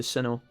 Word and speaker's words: Sinnoh: go to Ceno um which I think I've been mispronouncing this whole week by the way when I've been every time we've talked about Pokemon like we're going to cinema I don't think there's any a pronounced in Sinnoh is that right am